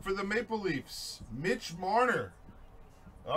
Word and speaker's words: Marner: It's pronounced Marnay. Listen, all right? It's Marner. You don't correct me, M. King. I correct you.